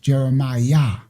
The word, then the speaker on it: Jeremiah: That's why when they transliterate the names in the Bible, they say um Jeremiah is J E R E M what? I a H. And how is it pronounced? Jeremiah.